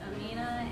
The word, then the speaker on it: Aminah: It's Amina, and I spell it as Aminah.